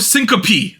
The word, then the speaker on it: syncope: Vasovagal syncope. That's how you pronounce it, Anita. Oh, syncope.